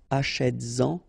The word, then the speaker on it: achète-en: And then achète-en, achète-en.